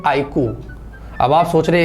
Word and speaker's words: iQOO: देखा जाए तो इसका प्रोनाउंसिएशन सही है आईकू, पर ये जिसने भी किया, एक मिनट, जिल्ला वाला सलाम करते हैं।